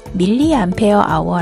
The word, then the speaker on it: mAh: Đôi khi nó được đọc là MH, nhưng chính thức nó được đọc là miliampe giờ.